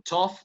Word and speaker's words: tough: Pero una que otra palabra como tough o enough hacen que la GH suene como F.